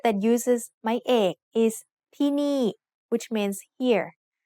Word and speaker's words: ที่นี่: ที่นี่ has 2 syllables and both syllables have low class initial consonants. We use my egg with both syllables to make each one have a falling tone.